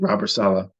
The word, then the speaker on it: Robert Saleh: That's how you say it, Robert Saleh.